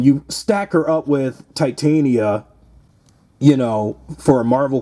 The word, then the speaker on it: Titania: But Tatiana uh Tat Titana Titania I keep saying her damn name wrong. uh Titania in the u you know Marvel Legends she